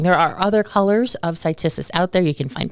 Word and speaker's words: Cytisus: Stacy, you pronounce the botanical name Cytisus? Mm-hmm. Okay, Cytisus.